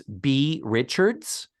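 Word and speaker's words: Beah Richards: It's written B-E-A-H. I don't think it's pronounced Bea. I think it's just B. Richards. I think the H makes it Bea. Does it make it Bea Richards? Yeah. Mm-hmm. Otherwise, why put the H?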